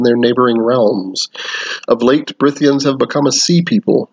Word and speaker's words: Brythia: so here we go the people of britia and it's spelled b-r-y-t-h-i-i-a but uh it's the why is it it's like a it's like a more of a not only anglo-saxon but more of a welsh kind of thing where it is is